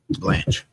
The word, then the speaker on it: Blanche: But Deputy Attorney General Todd, how you pronounce his name? Todd Blanche. Excuse me, Blanche, right? Yeah, Blanche.